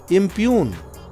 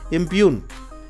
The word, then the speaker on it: impugn: 23 इम्प्यून, देख रहे हैं ना, IMPUGN, जी साइलेंट हुआ है, इम्प्यून।